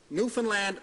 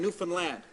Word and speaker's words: Newfoundland: Um, I'm going to give you a little lesson on how to pronounce Newfoundland. Newfoundland. Understand? Understand? Newfoundland.